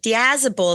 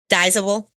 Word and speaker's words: Dazzle: Dazzle is how you say it. Everyone even says Dable.